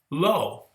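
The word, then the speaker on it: לו: commentator jordan says that in hebrew the negative not sounds just like the prepositional phrase to him so both words are pronounced lo well i never knew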